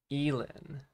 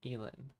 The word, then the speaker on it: Elin: Elin. One syllable and no problem. Elin.